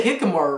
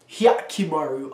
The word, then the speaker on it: Hyakkimaru: I say Hikamaru, right? Hyakkimaru. Oh, Hyakkimaru. That's not hard. I say it wrong.